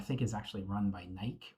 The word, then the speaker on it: Nike: Portland, I think, is actually run by Nike or Nike, however you want to pronounce that thing.